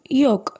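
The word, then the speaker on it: yolk: நம்ம சொல்லக்கூடாது சாமன் next one யோக் யோக் எங்கேயும் எல் சவுண்ட் வந்து சைலெண்ட் ஆயிடும் யோக் அப்படின்னா மஞ்சள் கருன்னு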